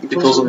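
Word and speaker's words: Itosu: Und da wollte einer, also Itoso, richtig ausgesprochen? Itoso, ja.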